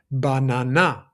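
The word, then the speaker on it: μπανάνα: For example, this is banana. Banana. So, you're putting a bit of extra energy into the letter that is uh that there's a stress mark on top of it.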